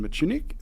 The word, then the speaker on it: Mitschuinig: Sydney Australia and I am joined by Nathan matunik from select plant Australia welcome on the podcast